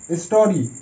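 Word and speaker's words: story: যেমন আইতে ই উচ্চারণ না, হিসিকারের মতো উচ্চারণ হয়, সো এখানে ওয়াইতে কিন্তু হিসিকারের মতো উচ্চারণ হচ্ছে, ই। Body, BODY body. একই রকম স্টোরি, STO স্ট, RY রি, এখানেও ওয়াই এসে আই এর জায়গায়, মানে আই এর মতো উচ্চারণ আছে ওয়াইটা, স্টোরি।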